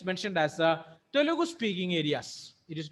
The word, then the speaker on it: Telugu: here it's mentioned as Telugu speaking areas. It is not Telugu, it is Telugu. Telugu speaking areas. We Malayalis will pronounce that Telugu. It is not Telugu, it is a Telugu speaking people.